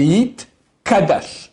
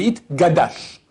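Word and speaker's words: Yitkadash: Yit, gadal, et yit, kadash. Les gens font le contraire. Des fois, ils disent yit, kadal, et yit, gadash. Ça va pas.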